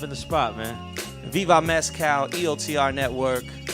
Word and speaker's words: Mescal: At Viva, how do you say it? Mescal? It's Mescal. Mescal. Yeah, because I can't. Mescal or Mescal. Mescal. There you go. That's how you say it.